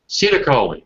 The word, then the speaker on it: acetylcholine: How do you pronounce that? Do you know about that? You ever heard this word? Dale, A-C-E-T-Y-L-C-H-O-L-N-I-E. Acetylcholine? Acetylcholine.